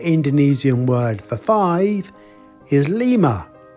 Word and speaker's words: lima: word for five is Lima that sounds like lima the capital of Peru five lima lima lima